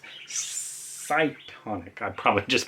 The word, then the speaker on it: Cytonic: I've definitely shown the first one, which at first I thought was Cretonic, but obviously not. It's Cytonic.